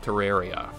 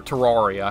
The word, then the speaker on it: Terraria: do a playthrough of terraria or terraria however you say it i hear it both pronounced both ways and videos like all